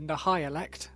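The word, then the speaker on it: Nihilakh: Is that how you say it? Nahilik. Nelic probably. Based on the audio drama audio books, it's the Nahalect.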